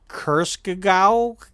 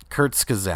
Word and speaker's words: Kurzgesagt: One's from Kurskagau. I can't. How do you pronounce it? Fire? Kurzgesagt.